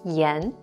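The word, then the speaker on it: 炎: to treat inflammation and this character is pronounced as yen yen want to learn chinese fast get cheat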